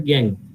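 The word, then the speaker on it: gangue: ঠিক আছে, উচ্চারণটা ইউই থাকলে তার উচ্চারণ হয় না। যেমন ধরো আমি বলছি যখন কিউ ইউই, তোমরা র্যাঙ্কিং করেছিলে, এরকম একটা শব্দ ছিল, লাস্টে ইউইর উচ্চারণ হয় না, তো সেটাকে আমরা বলেছিলাম কিউ। একইভাবে এটার উচ্চারণটা প্রনাউন্সিয়েশন হবে গ্যাং।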